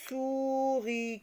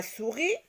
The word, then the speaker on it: souris: On a la souris. Souris s'écrit déjà avec un S qui est une lettre muette ici.